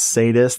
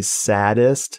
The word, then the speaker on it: sadist: Not sadist, because, you know, they mispronounce sadist. They say saddest in movies dubbed in the 70s.